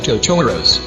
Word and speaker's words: Totoro: inhabited by magical creatures called totoro's pronounced Totoro they soon befriend beasts